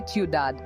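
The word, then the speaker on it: ciudad: example is Tad City you don't pronounce the d at the end you say udad with the emphasis on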